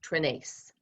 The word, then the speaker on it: Trenace: n a c e just think ace trinice ah okay that's easy